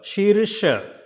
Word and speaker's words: Sheersha: So it is not Sheershaasana, it's a Sheersha. She, because 2 times E, so it will be she, Sheer, then sh, Sheersha, Sheersha.